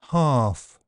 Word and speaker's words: half: bulge kiln film and L is silent in some words calm palm Arm salmon half chalk talk walk folk yoke would could kernel.